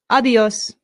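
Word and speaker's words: adiós: A good way to say goodbye in Spanish is a simple adios. Adios. Adios. Excellent. Adios. Notice the accent. This is where our stress is.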